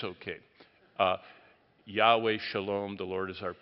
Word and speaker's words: Yahweh: world it would be not Jehovah but Yahweh but Yahweh ra is the Lord is my shepherd that's one of the most beloved Old Testament passages and Yahweh yaira or Jehovah Jireh which no one in the Bible would have ever said but it's okay to say it but Yahweh yaira all the J's are wise if you want to really